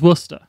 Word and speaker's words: Worcester: here yeah actually people in Massachusetts seem to pronounce things correctly in my books like worcester's Worster it's because they they got their names yeah